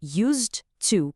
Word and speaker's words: used to: Segundo, e essa é a parte crucial, o D no final de used é praticamente engolido pelo T de to. Eles se fundem. E o resultado disso tudo é que a pronúncia de used to com D e used